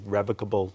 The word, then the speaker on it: revocable: your assets in a revocable living trust. Revocable? I said it wrong. No, it you can say it either way.